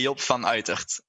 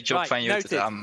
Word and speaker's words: Job van Uytert: In Holland, we say Job van Uytert. Uytert, okay. Yeah, but Uytert. If you say Job van Uytert, I'm more than happy with that.